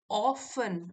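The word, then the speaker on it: often: यहां देखिए टी जो है वो साइलेंट है। ऑफन ऑफन अक्सर अक्सर।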